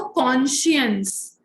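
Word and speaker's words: conscience: तो कॉन्साइंस, cone और साइंस जैसी स्पेलिंग होगी और बोला जाएगा वो कॉन्शियंस. कॉन्शियंस का क्या मतलब होता है?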